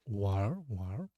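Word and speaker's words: 玩儿: Also, you can say you can read it one, or with erhua, it's war. No, this n is silent, so war.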